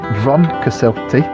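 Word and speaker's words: Froncysyllte: While Arwell and some locals call it Vron Cysylltu, it's more generally known as Pont Cysylltu, as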